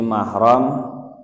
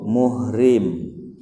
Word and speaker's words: mahram: haram di nikahi yang benar pengucapannya Kalau mengikuti bahasa Arab yaitu mahram tapi kalau ngikuti istilah Bahasa Indonesia itu muhrim tergantung kita mau ikut mana